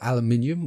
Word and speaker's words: aluminium: Just take a copper or aluminium or aluminum, whichever pronunciation you prefer, or you could just go rip the back off an old fridge.